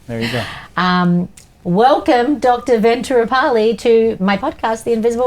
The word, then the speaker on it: Venuturupalli: So Ventura, like Ventura Boulevard, Venuturupalli. Venuturupalli. I've been saying it wrong for like 12 years. I mean, Venuturupalli. It's an Indian thing. So then there's an extra U just to throw everyone on.